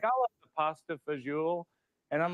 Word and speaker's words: fagioli: and it's that my dad shows off by pronouncing menu items correctly. He'll be like, "I'll have the pasta fagioli," and I'm like, "We're sitting in a strip mall in Hyannis, Massachusetts. We love pasta fagioli like everybody else."